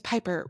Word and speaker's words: Piper: She goes, Piper, my name's Piper, rhymes with Viper.